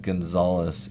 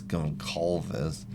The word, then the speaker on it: Gonçalves: It's because it's not Gonzalez. It's Goncalves. So, sorry, Gonçalves. You know what I mean. His name's Gonzalez, okay? For those of you that don't habla español or fala portugués, that's how you say it in English.